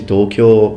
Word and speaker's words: Tokyo: By the way, in Japanese it's Tokyo, Yokohama, because people sometimes when I pronounce things in the English way, they're like, well, you say you know Japanese and you can't even pronounce it. I can, it's just that I'm speaking English.